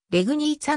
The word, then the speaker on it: Legnica: の年ポーランドもの主格ではれぐにーちゃのように発音されるため日本語でも